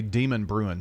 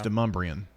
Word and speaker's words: Demonbreun: the news or whatnot, they would say Demon Bruin Street. Oh, yeah. But it's Demumbrian.